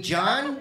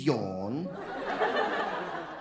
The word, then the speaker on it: Jan: other guy he said his name was yawn I'm like do you mean John he's like no it is yawn how do you spell that yawn j-a-n dude that's a girl's name that's Jan no it is very much like the first thing you do when you wake up in the morning you your name is